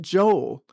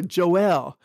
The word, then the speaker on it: Joel: I link that with the next book which is Joel or Joel which rhymes with Noel another Christmas word so